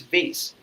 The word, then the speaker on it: vase: attitude and she said no it's not vas it's vase okay and then I was just sitting out there I was just observing everything and then I realized no there are two pronunciation of the same word it's vas and v both are correct right so there are